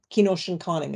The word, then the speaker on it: Kenoshinkoning: I'm Loon Clan, and I come from Kenoshinkoning, is how you say that in our language.